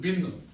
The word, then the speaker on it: been: You should pronounce it bin.